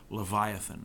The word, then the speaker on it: Leviathan: note lesson I think in English is pronounced Leviathan this is a sea